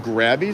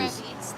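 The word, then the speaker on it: Grevy's: They're called grabby zebras? Is that how you say it? We have Or these? grevies.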